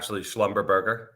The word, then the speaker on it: Schlumberger: So, listen, no, JB, no, it's actually pronounced Schlumberger.